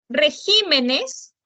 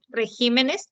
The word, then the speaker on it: regímenes: se tiene que tildar regímenes regímenes también se va a tildar porque también es